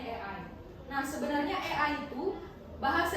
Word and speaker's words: AI: atau kalau di eja tulisannya A i tapi kita bacanya Ei.